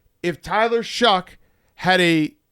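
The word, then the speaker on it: Shough: Yeah, and then you're a scout and you didn't know that it's Tyler Shuck.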